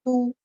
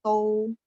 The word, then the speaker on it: 都: Ini teman-teman kemarin saya ada bilang ya, huruf Mandarin yang saya garis bawahi ini kalau untuk nama kota dia pakai dia bacanya tu. Tapi kalau misalnya di teks bacaan kita yang bacanya tou.